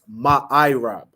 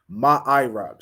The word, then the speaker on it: ma'irab: Okay, it's ma'irab. Okay, ma'irab. So you're gonna spell that M-A, so ma, then I, just the letter I, then rab, R-A-B, ma'irab.